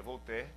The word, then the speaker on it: Voltaire: Por exemplo, Volter, um filósofo muito conhecido, na verdade se escreve Voltaire, né, em português, mas se pronuncia Voltaire.